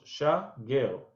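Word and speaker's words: שגר: Okay, but the way they say the syllables became super trendy. 2, 3, shager. That's how it sounds.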